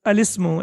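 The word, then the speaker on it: الاسم: drop it means uh when you connected with Al then you don't pronounce it you will pronounce it as alisma as you can see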